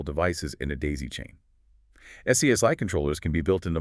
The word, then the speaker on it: SCSI: Then there's SCSI, pronounced SCSI, which stands for Small Computer System Interface.